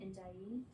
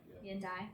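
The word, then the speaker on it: Ndiaye: Indai andai. Indai, sorry.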